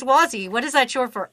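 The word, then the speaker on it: Wazy: is a mouthful oh wazzy which is um spelled w-a-z-y and pronounced wa as in your um Wario or Waluigi it's like the wah from Waluigi and z um how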